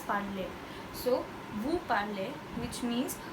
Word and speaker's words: parlez: When we say PARLEZ, it's pronounced as parler.